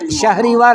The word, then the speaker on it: شهریور: میرا استاد ماہ شهریور، جی اس کا تلفظ شہریور ہے۔ سر آپ نے بولا